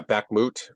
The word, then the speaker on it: Bakhmut: Is that how you pronounce it, Anne? Back maybe. Yeah, Bakhmut.